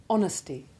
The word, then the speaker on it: honesty: the simple sounded H, except in the words honour and honest, and words derived from the same root, in all of which the initial H is silent.